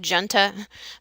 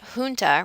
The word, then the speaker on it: junta: know it looks like Genta but it's a Spanish word and so that J is pronounced like an H Punta a military junta remained in office for